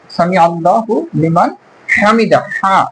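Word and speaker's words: سمع الله لمن حمده: উচ্চারণ করতে হবে সাল্লাল্লাহ সামি আল্লাহু লিমান হামিদা হাটাও হলকের শেষ ভাগ থেকে উচ্চারণ করতে হবে হা মিদাহু এই হাশু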